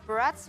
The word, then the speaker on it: Barats: Wait, Barats rhymes with But strats, right?